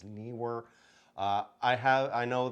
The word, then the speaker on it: Neewer: the surface nearer newer I've heard it pronounced all different ways but it's NE w r so I believe it's Neer uh I have I